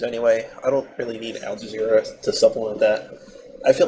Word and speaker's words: Al Jazeera: Al Jazeera? That's how you pronounce it. Like, it's not... Yeah, like that.